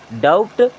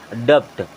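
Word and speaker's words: doubt: ये क्या लिखा है डी ओ यू बी टी इसे आप क्या पढ़ेंगे डाउट नहीं यहां पर बी हमारा क्या रहेगा साइलेंट रहेगा क्या रहेगा साइलेंट रहेगा मैं भी जब आपके जैसे छोटी कक्षा में था तो मैं इसे क्या पढ़ता था डपट क्या पढ़ता था डपट लेकिन ये एक्चुअल में डपट नहीं होता है ये होता है डाउट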